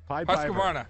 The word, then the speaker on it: Husqvarna: Husqvarna.